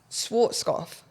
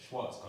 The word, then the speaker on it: Schwarzkopf: That brand, Schwarzkopf. You know what? Yeah, Schwarzkopf.